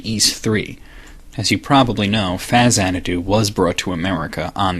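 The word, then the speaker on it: Faxanadu: to Hudson soft who created the NES game Faz anadu yes that's how you pronounce it you might be familiar with this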